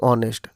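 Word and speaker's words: honest: यहाँ पर ऑनेस्ट में अ की साउंड निकलती है जो कि वावल साउंड है, इसलिए अगर हम ऑनेस्ट के पहले एन का प्रयोग करते हैं और यहाँ पर एच साइलेंट होता है।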